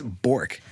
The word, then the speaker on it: Bourque: We pronounce it that way because my family has always said Burke, even though phonetically it's Bork.